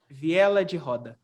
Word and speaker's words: viela de roda: i can't understand but the portuguese will be viela jihoda uh all right all